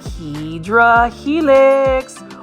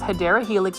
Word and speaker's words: Hedera helix: They're kind of like Hydra helix, or the correct way to say is Hedera helix or English ivy.